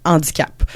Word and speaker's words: handicap: de la langue française, le H de handicap est un H aspiré et on devrait pas faire la liaison. Faudrait dire un handicap.